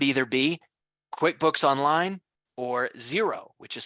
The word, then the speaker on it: Xero: application which would either be QuickBooks online or xero which is spelled x-e-r-o we'll be doing quite a bit